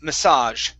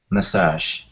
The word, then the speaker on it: massage: the other one okay massage it looks like message but there's an a at the very beginning okay so it's massage massage okay nice job everything